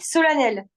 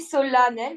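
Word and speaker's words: solennel: font exprès ok ouais si je te dis solenel ben c'est un a non ça se dit solanel mais ça s'écrit vraiment comme ça mais il y a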